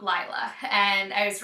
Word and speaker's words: Lila: first seconds of her video, and it is pronounced Lila. It is not Lila.